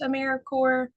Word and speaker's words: AmeriCorps: know how to pronounce a mirae um it's like Marine Corp peace core core of the earth Apple Core I know there's that PE in there and it can throw things off but um we like